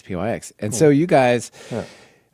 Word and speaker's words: pyx: numpai and and so just pyx for example, right? It could have many pronunciations. There's nothing implicit about how you say that one, but um Charlie Mar says pyx.